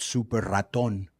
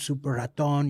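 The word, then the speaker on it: Súper Ratón: a guy in Mexico called super Raton which is like a in Spanish it's actually Mighty Mouse he used to say yeah wrestled super haton you know he he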